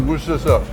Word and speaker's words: Worcestershire: It's pronounced as Worcestershire, according to my UK friend.